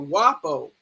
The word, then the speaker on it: guapo: WAP comes from the word guapo or wapo. They pronounce it with the W sound, but it's G-U-A-P-P-O, I think it is, and it's wapo.